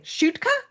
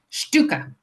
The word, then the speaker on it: Shtuka: Now, I didn't I should have asked you about pronouncing your last name, Shutka. Stuka. Stuka.